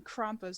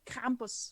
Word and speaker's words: Krampus: Why am I pronouncing Krampus like an English person? Krampus. There you go.